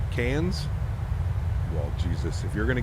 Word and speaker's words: Cairns: future yeah it's crazy it's cans for Cairn Cairns cans Jesus if you're going